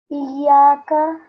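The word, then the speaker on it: إِيَّاكَ: And here you have to emphasize on the ya, because it's a ya mushaddad. So it's iyaka, iyaka, not iyaka. Try again. Iyaka. Iyyaka.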